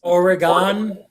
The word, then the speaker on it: Oregon: pronounce it washington yeah oregon organ like oregon oregon o-r-y-g-u-n yeah but the y is really fast yeah super fast like you don't even hear it very good we also